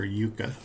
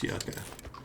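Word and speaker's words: yucca: Somebody like their yucka their yucka here or yuka I think it's yucka that's how I've heard it pronounced I know it grows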